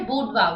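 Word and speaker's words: boudoir: तो first word is बूडवा। इसकी pronunciation है बूडवा।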